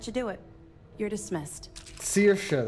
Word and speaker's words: Saoirse: Saoirse, that's the pronunciation.